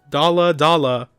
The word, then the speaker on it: Dalla Dalla: Like I say it Dalla Dalla, like but but I'm I'm pronouncing the D, but I I don't know what to say.